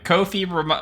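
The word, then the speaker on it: Ko-fi: Uh Kofi rhymes with Noi. Yes. Thank you so much. I appreciate that. Thank you for the reminder. Kofi rem uh rhymes with no fee.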